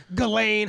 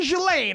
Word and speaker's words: Ghislaine: Because when I was in the 6th grade, my girlfriend's name was Ghislaine. And so I know how to pronounce that bitch's fucking name. And all these people are like, Ghislaine, Helene, and all these. And I'm like, no. Someone ask me. Her name's fucking Ghislaine.